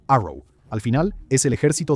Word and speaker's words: ARRW: La marina tiene ataque convencional rápido y la fuerza aérea, el ARRW, que se pronuncia Arrow, al final es el ejército de Estados Unidos.